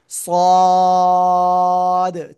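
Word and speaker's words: صاد: এবার এই অক্ষরটা একটু মোটা আওয়াজ হবে। সদ, চার লিপটান, জোরে জোরে বলতে হবে।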